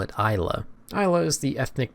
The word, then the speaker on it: Islay: This word here is pronounced Isl, but the locals call it Isa.